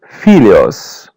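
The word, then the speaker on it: filhos: parts feels felios felios The H is pronounced as Y. Felios.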